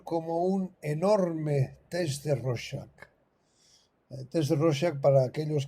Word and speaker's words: Rorschach: Hasta en YouTube busqué cómo se pronuncia Rorschach. Rorschach, sí. Se escribe con CH al final y se pronuncia Rorschach.